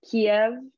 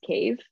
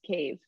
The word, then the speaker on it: Kyiv: Kiev is the Russian pronunciation. The correct pronunciation is Kyiv. Okay. That's like the capital city. The capital of Ukraine. Is Kyiv.